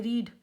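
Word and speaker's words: read: English क्या होती है रीड फर्स्ट फॉर्म रीड और सेकंड इसकी होती है रेड और थर्ड फॉर्म भी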